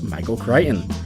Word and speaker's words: Michael Crichton: Quick hat tip to Travis for teaching me how to pronounce Michael Crichton.